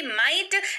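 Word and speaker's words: might: अगला शब्द है माइट एम आई जी एच टी माइट जिसका अर्थ होता है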